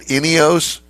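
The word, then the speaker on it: Ineos: I like it all right so did I pronounce it right inos yes inos Grenadier is the name of the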